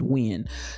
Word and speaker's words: Nguyen: jenny nguyen as n-g-u-y-e-n my understanding of that pronunciation of people that i know is pronounced when jenny nguyen from the